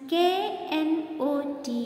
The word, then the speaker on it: knot: Next one, K-N-O-T, knot means string. Next one, another one, N-O-T, knot. N-O-T, knot means negative form.